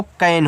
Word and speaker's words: can: CAN, देखो जब दो कॉन्सोनेंट्स के बीच में ए होता है तो ए का उच्चारण ए की मात्रा के रूप में करते हैं। तो यहाँ पे इस सी को आप का पढ़ोगे, ए का उच्चारण ए की मात्रा के रूप में, और यन से ना कहना, देखो कैन हुआ।